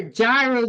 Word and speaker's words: gyros: He So said basically, what I they are gyros, not euros.